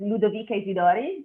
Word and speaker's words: Ludovica Isidori: First of all, good call on my name, which is LUDOVICA Isidori. Your pronunciation was perfect.